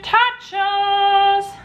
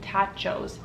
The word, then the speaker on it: Totchos: I am making Chicken Totchos. And if you think I mispronounced nachos, you're wrong, because we're making tachos.